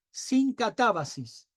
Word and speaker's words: synkatabasis: Y hay una palabra que voy a tratar de pronunciarla bien para que, si no, después la escribimos, que es la palabra sincatabasis. Sincatabasis. Es Synkatabasis. Sincatabasis.